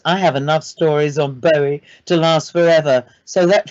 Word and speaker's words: Bowie: dublin bowie festival to give a talk it's pronounced bowie by the way i mean i yes i